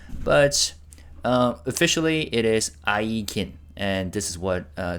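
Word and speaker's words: IGIN: Uh it is pronounced with a hard g i.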